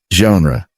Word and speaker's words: genre: Word number 7, genre. This one comes from French, and that G is not a hard G.